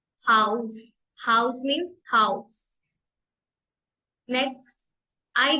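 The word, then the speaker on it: Haus: करेंगे गे गे ग्रु ग्रुं एच को हम प्रोनाउंस करेंगे हा हा हाउस हाउस मीस हाउस नेक्स्ट आई को हम प्रोनाउंस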